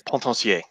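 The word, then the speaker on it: Potencier: Pontancier. Ah, thank you. Fabien Pontancier.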